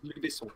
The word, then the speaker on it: Luc Besson: Was it Luc Besson? Was it? Is that how you pronounce his name? Yeah, Luc Besson.